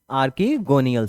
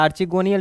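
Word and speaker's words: archegonial: क्या बोलते हैं, आर्कीगोनियल सेल, या आर्चिगोनियल भी आप लोग प्रोनाउंसिएशन कर सकते हैं।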